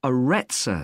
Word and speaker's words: Arretsa: It's called the Aretsa Centre. That's spelled Arretsa.